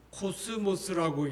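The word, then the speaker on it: κόσμος: 하고 있습니다.이 세상이라는이 헬라의 그 말을 보면은 그 발음이 코스모스라고 얘기를 해요.이 이 코스모스무 가을에 들판는 코스모스 가을에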